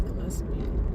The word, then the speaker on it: Gillespie: There's Gillespie. That's how you say it.